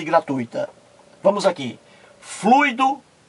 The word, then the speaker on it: gratuita: O jornalista estava assistindo ao programa e ele ouviu a jornalista errar, pronunciar várias vezes fluido em vez de fluido, gratuito em vez de gratuito e gratuita em vez de gratuita.